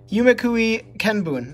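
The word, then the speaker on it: 夢喰見聞: And coming up next to that, we have ourselves Yumekui, oh gosh, Yumekui Kenbun, that's how you pronounce it.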